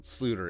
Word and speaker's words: Sloter: legend kyle jerome ezekiel sleuter it's a dutch pronunciation name to the all usfl